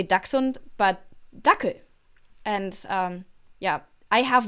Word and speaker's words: Dachshund: So I have a dachshund. And which is a funny word in English because it's basically a German word, just English with an English pronunciation. In German, it's Dachshund. Even more.